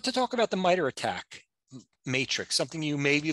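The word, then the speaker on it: ATT&CK: acronym att and ck but it's pronounced attack this framework organizes and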